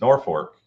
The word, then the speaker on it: Norfolk: 16 days from today at the Off-Road Speedway, and you got to say it right if you're up in that area. It's Norfolk, Nebraska.